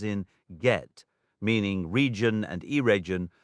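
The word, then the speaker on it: Eregion: The letter G always carries the hard sound as in get meaning region and irregion are not said like the English word region and the initial syllable of gingith rhymes with begin not gin.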